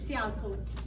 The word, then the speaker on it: Sialkot: There is a city in Pakistan, I don't know if I'll pronounce it right, probably not, Sialkot. Sialkot. Is that pretty close? Sialkot.